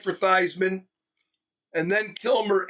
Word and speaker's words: Theismann: Theismann. To rhyme with Heisman.